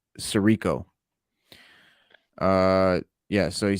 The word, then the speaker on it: Sirico: tony soprano talking about tony sicaro cicero wait i'm going to say his name right tony sirico uh yeah so he